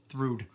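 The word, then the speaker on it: Þrúðr: Apparently, weird bunch of letters together is pronounced thrude.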